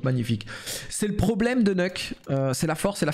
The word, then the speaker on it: Nuke: C'est parce que sur Nuk, moi je dis Nuk les gars, je sais qu'il y en a qui disent Nuke et que ça se prononce Nuke, mais moi je dis Nuk frère.